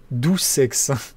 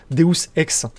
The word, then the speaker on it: Deus Ex: ils viennent pour toi je crois que ça se dit dou sex normalement on devrait le dire Deus Ex si on le prononce en latin parce que c'est c'est c'est du latin donc normalement deus il